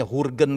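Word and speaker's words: Jürgen: Ini kemarin lagi ada nyebut Jurgen Klopp. Udah jelas orang Jerman gitu dibacanya Hurgen gitu.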